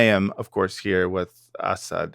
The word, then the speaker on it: Assad: I So yeah, again um it's for the it's like lazy and and and long in the in English pronunciation. So it's Assad Assad, right? Right. And then in Arabic it's sharper, more aggressive, more barbarian like Yeah.